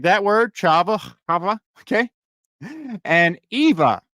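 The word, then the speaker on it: חוה: you guys all right first word is this Hava right is how you would think that would be pronounced okay I need to do a the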